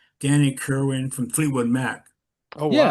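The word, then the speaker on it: Kirwan: One belonged to Danny, I can't pronounce his last name, Danny Kerwin from Fleetwood Mac Oh Yeah, wow. yeah, Kerwin, that's right.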